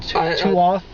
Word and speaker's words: Toth: out to uh Wayne Toth I'd like to say his name t-o-t-h that sounds like two off he did the effects